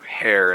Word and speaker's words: hair: So when the rabbit's placed in front of him, he catches on that it's hair and not air. Hair. Kraz says, because there's an H in it. Yes. H is silent.